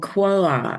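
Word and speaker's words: Quaoar: And this one was called Quoa. It's a very challenging name to pronounce, Mm. but it's something like that.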